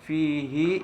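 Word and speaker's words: فيه: Di situ bacanya fihi, hi-nya dibaca panjang.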